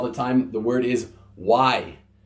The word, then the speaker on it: wai: we hear all the time the word is why W AI why is water we've got white